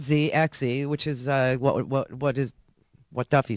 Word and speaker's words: Xe: In fact, we at Blackwater are so eager not to accept accolades for our work that, we changed our name to, it's XZ, but we pronounce it Z.